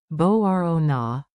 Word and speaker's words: Μπορώ να: Let's lock in the sound with a fun rhythm. Tap this groove. Bo ro na, bo ro na. Borona. Emphasize the rising row.